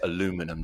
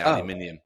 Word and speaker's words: aluminium: would just all be how do you say aluminum, don't you? But you should say aluminium. That's the way it's pronounced, obviously, but we'll let you have aluminum.